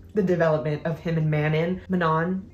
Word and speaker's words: Manon: And then I loved the development of him and Manon. I pronounce it Manon, but I think it's Manon.